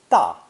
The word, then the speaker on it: 大: of big or great pronounced with the fourth and sharp and falling tone da here we can see